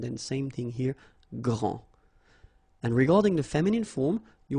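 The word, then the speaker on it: grande: you don't the day here and you don't pronounce the final s okay so gr and then same thing here gr and regarding the feminine form you will pronounce it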